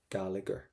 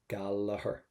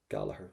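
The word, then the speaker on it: Gallagher: not what sound what letters do we not pronounce we would never say Giger gager we would say galaher galaher wouldn't we so in Ireland we don't pronounce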